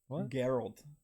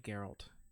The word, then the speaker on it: Geralt: if it's that n it's not Gerald I think it is like Geralt yeah Geralt because it ends